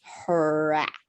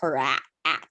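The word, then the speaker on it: Herat: then or maybe it's her rat all right yeah her rat or her at so we emphasize that at right at her and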